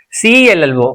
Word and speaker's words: cello: The stress will be on the first syllable. It's a disyllabic word. Two syllables are there in this word.